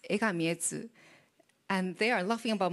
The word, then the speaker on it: Egami Etsu: So one of my friend told how to pronounce in Japanese. So I said, it's Egami Etsu.